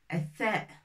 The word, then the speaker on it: ث: Maintenant, on va apprendre, c'est pas ta, mais tha. On sort un petit peu la langue pour prononcer tha.